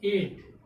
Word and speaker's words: eight: यानी कि उस वर्ड का प्रोनाउंसिएशन करते समय GH का उच्चारण नहीं होना चाहिए, यानी GH लेटर्स का प्रोनाउंसिएशन नहीं होना चाहिए। जैसे मान लीजिए लिखा है 8, EIGHT, 8 मीन्स क्या हो गया, 8 मीन्स